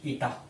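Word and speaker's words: eta: है ये सिंबल है इसको ईटा पढ़ते हुए क्या पढ़ते हैं, ईटा, है ना। इसका उच्चारण ऐसे किया जाता है, प्रोनाउंसिएशन कैसे होता है इसका, ईटा के रूप में होता है।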